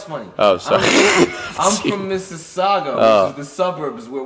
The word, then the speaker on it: Mississauga: I'm not sure how you pronounce that. Mississauga.